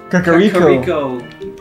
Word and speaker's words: Kakariko: I don't even know how to pronounce that. Let's just move on. Kakiri? Kakakuri? Kakariko.